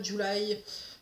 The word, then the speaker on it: July: Celui-là de Miranda July, ou Julie si vous voulez la prononcer à la francophone, c'est un roman qui